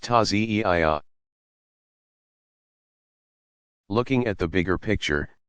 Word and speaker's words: Taziyah: In more traditional Shi'i villages, people still gather to reenact the events in a passion play called the Taziyah, pronounced Taziyah.